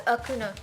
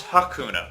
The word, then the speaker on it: Hakuna: Did you pronounce the H? You think it's Akuna? Yeah, it's Akuna. Akuna? No, it's Hakuna.